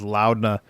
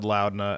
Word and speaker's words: Laudna: I mispronounced Laudna as Loudna, and people gave me crap for it. And then Liam said Loudna, and I felt a little redeemed.